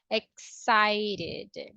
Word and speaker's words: excited: same all right so the last sound before the Edie is a t that's why the pronunciation will be with the same rule excited how about the adjective